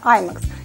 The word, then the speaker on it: IMAX: Совершенно верно, именно IMAX. И настаиваю именно на этом ударении.